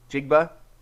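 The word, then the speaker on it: Njigba: name in jigba okay so it's exactly how it looks I don't know and jigba sounds right and jigba that's actually the way they were pronouncing it during the draft Andrews yeah it's in jigba okay okay what's okay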